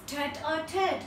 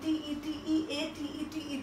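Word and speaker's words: tête-à-tête: And the next word is tete-a-tete. I repeat once again, T-E-T-E-A-T-E-T-E, tete-a-tete means private conversation. Some, like, you know, conversation that we don't want to disclose to everybody. Our private cozy conversation is tete-a-tete.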